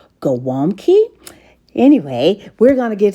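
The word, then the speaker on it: gołąbki: cabbage rolls which is a Polish dish normally pronounced goami anyway we're going to get started on it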